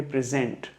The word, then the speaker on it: present: ऐसे वर्ड्स को हम लोग बोलते हैं हेट्रोनिम्स, जहां पे हेट्रोनिम्स बोले जाते हैं वो वर्ड्स जिनकी स्पेलिंग सेम है, PRESENT स्पेलिंग सेम है, लेकिन मीनिंग और प्रोनाउंसिएशन डिफरेंट है। तो स्पेलिंग सेम, मीनिंग नहीं सेम है और प्रोनाउंसिएशन भी सेम नहीं है।